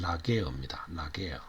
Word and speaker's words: Laguerre: 이거는 이 사람은 이제 프랑스 사람인데 이 발음이 어떤가 봤더니만 라게어입니다.